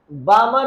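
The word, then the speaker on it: Balmer: बामर series, L silent है।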